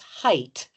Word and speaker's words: height: I hear lots of people pronounce height as though it ended with TH, as in length and width.